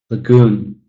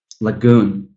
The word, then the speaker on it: lagoon: You can clearly hear that stress falling on the second syllable, even though it's a 2-syllable noun. Hotel, lagoon, lagoon.